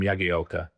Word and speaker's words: Jagielka: just said, you know, you've been pronouncing my name wrong my whole career. You know, I'm Yagi.